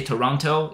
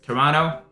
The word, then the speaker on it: Toronto: I you need to say Toronto you don't pronounce the the T at the end so you don't say Toronto it's Toronto so that's how you would say that you